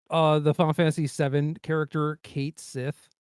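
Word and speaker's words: Cait Sith: The Japanese pronunciation is Ketshi, but then they did localization for the remake, and they were just like, yeah, we're just gonna call him Kate Sith, and like back in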